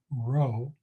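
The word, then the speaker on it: rho: actually the Greek letter row so let me write it r h o is the way that it's pronounced so from now on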